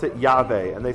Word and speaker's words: Yahweh: Yahweh. Yahweh. Right? Americans say Yahweh, but it's Yahweh.